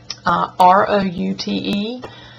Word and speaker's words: route: strange odd and r-o-u-t-e i call it route when i was growing up i lived at route 4 box 485 but um a lot of people say root like route 66 but a root is what's in the ground with a tree route is an address or a road uh wash i don't